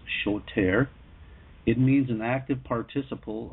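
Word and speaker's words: שׁוֹטֵר: in the hebrew lexicon is 78 60 it's pronounced shoter it means an active participle of an otherwise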